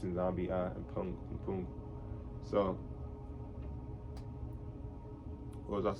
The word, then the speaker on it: nZambi mPungu: I was pronouncing that wrong. It's nZambi mPungu.